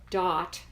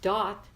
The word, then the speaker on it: Daath: shall be passes here entering this realm of dot it's called that is the Hebrew name which means knowledge DAA th dot it's pronounced entering this realm of das sphere 11 dot we learned about death birth